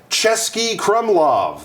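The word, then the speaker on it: Český Krumlov: we are back so let's find out about chesky Crum laav first of all it's pronounced chesy Crum laav that's right you might go what are those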